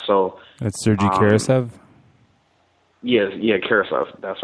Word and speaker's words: Karasev: Like kerosene, Karasev. It's almost perfect.